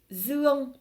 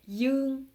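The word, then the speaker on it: Dương: C'est un peu comme dans mon prénom, Zuong. Comme je suis du nord, je le prononce Zuong, mais le sud, ils vont prononcer Yung.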